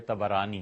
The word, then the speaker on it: طبرانی: یہ روایت آئی ہے طبرانی میں۔ طبرانی کا اصل تلفظ یہی ہے، طا پر بھی زبر ہے، با پر بھی زبر ہے، طبرانی۔ طبرانی رحمت اللہ علیہ